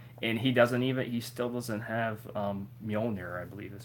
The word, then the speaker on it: Mjolnir: So it's like, and he still doesn't have Mjolnir, I believe is how you pronounce it.